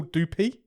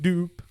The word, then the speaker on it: Doupe: a girl called Hazel dupy or how you say how are you pronouncing that d d o u p e dup dup dup doop she plays sha she's